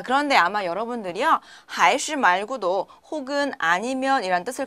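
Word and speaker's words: 还是: 还是 자, 还是 라고 읽고요.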